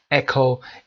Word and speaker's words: echo: قبل از اینکه درس شروع بشه حتما بگم خدمتون اکو ECHO هست که به معنای پژواک و برگشت صوت هست.